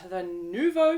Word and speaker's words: Nuvo: and we are going to be talking about Nouveau flutes I was not pronouncing those right a moment ago but that is how you pronounce them Nouveau fleas and we're gonna start off by just